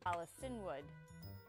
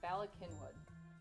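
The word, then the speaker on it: Bala Cynwyd: c yny y or WYD it's Bak kinwood balwood balwood balwood balwood bwood Bas welcome to balwood it's Bal kinwood Bal kinwood that actually sounds a lot better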